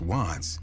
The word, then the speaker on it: WVTTZ: The name WVTTZ, pronounced Watts, paid homage to an LA neighborhood, while CHII, pronounced C.Hi., signified his affiliation with the Crips, a notorious street gang.